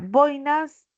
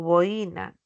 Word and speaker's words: boina: Ya en la boinas no lleva tile, ¿no? A pesar de que nosotros lo pronunciamos como boína, ¿no es cierto? Boina, pero no debe de tilarse una gorra. Y la pronunciación es boina.